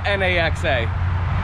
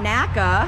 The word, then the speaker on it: Naxa: Well, how do you say N-A-X-A? Naxa, but yeah. Not NACA.